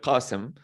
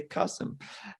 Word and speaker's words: Qasim: my name is uh qasim actually qasim it's an arabic name so you can't pronounce it so you can just say kosum and i'm from jordan